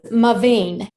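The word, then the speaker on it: MaVynee: Can you tell us how to pronounce that name? Yes, Mavine.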